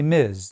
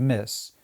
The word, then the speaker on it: Ms: Say Miz instead of miss.